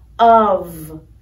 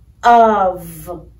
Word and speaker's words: of: Another sight word, of, of. The F is pronounced like a V, of.